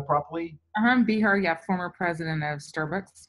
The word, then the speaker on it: Behar: Behar, yeah, former president of Starbucks.